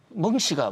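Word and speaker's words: 孟: 멍씨가 멍청하다 멍자가 아니고요. 중국어로 맹자 있지 않습니까? 맹자가 중국 발음하면 멍 발음이 나요.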